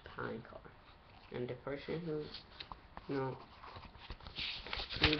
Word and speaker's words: Palancar: By the way, it's pronounced Palancar.